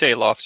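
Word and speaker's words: Aloft: it I don't know how to pronounce aoft aof i don't no it's aoft you're right aoft okay yeah yeah she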